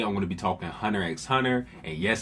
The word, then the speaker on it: Hunter x Hunter: Sasuke the Savage here, and today I'm going to be talking Hunter x Hunter. And yes, I pronounced the X in Hunter x Hunter. If you got a problem, I don't know what to tell you, alright?